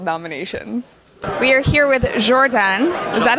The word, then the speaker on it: Jordane: We are here with Jordane. Is that how you pronounce it?